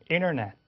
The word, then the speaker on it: internet: 접속해서 internet. 그죠? 멋진 발음으로. 그게 전부 다 N 다음에 T가 와서 N 소리에 동화돼서 그런 겁니다.